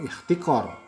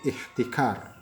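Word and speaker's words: احتكار: Bukan ikhtikor, ya, tapi ihtikar. Nah, karena pakai kap, ya. Memang sepintas mungkin sepertinya enaknya dibacanya ihtikor, gitu ya.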